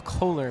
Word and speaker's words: Kohler: I mispronounced the receiver's name on that. His name is Paul Kohler, my bad.